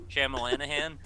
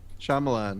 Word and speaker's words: Shyamalan: Night Shyamalan's whatever the hell it is. Wow. Shamalana. Bruce Willis discovers that Blank had really been Blank all along. It's an That's like Irish the name, police right? chief. Shamalanahan?